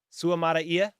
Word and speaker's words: Suamataia: He is Samoan. Yep. Have Samoan friends. It is pronounced. Okay, here we go. Suamataia. Suamataia. Oh my gosh. Okay, that's what we're going to try to keep it as.